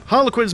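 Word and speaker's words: Harlequins: pronounce his name yeah har quins man not har Quinn sorry howling banshees if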